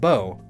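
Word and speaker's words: Beau: already so add bear bae you pronounced bo it's a common nickname for boyfriends or male significant others in areas where deer hunting is common in french his name means handsome so maybe that's why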